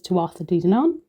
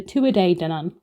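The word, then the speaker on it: Tuatha Dé Danann: I pronounced this as to dan and have now been corrected. It is the two a day dan not one a day two a day the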